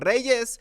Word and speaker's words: Reyes: I can't even pronounce it that he does because it's so American that I cannot like find the logic behind his pronunciation. It's Reyes, it's Barrio.